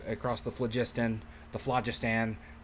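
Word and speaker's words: Phlogiston: the flagist and the flagistan I've always heard it pronounced flagistan um which is like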